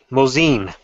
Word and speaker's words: Mosin: a mine Nagant a Mosen Nagant Mosen isn't that Mosen Mosin yes if you're doing it properly but I don't so